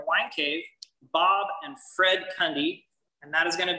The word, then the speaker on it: Kunde: Our last name is actually pronounced Kunde, and that stands for customer or client. And it starts off with this good-looking guy with a mustache right up here. His name is Louis Kunde, and he originally came here and purchased the